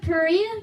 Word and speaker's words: Perea: war began and settled in a town of Perea called Pella.